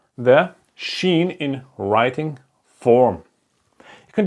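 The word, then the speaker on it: שין: not so hard like the s h sound like in shy or the sun is shining okay and then there's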